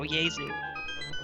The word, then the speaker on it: Jesu: Oh, he said, I didn't even know what, J-E-S-U means, and he said the J is silent, and I said, oh, Yezu.